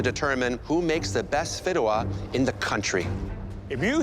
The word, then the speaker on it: Fideuà: Fideuà.